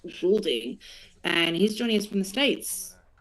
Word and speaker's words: Goulding: I've been saying Golding, but I've realised that is the incorrect pronunciation. It's Goulding, and he's joining us from the States.